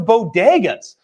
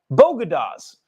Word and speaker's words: bodegas: What I am outraged over, though, is her pronunciation of bodegas. I've never lived in New York City, but I know what a bodega is. What did she call it? Bogota? Bogotas. The Bogotas of wherever, she said. Who pronounces it like that?